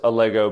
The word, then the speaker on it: Allego: It's Allego, it's pronounced Allego, but it's not can you Dennis, fix the graphic.